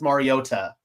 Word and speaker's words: Mariota: If you watch the intro, he actually pronounces it Marcus Mariota. I saw that. Marcus himself pronounced it like that.